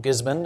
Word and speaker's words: Gisborne: Right, we're moving to Gisborne, or Gisborne, as the locals say, for this next wine,